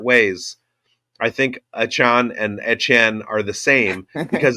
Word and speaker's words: Etienne: It's actually Etienne, and it's French Cajun. And I have a theory that it's the same last name, just spelled different ways. I think Etienne and Etienne are the same because it's not Etienne, it's Etienne.